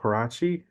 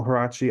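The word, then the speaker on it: Huarachi: you hi yes uh my name is harachi uh my first name is spelled m i CH a e l my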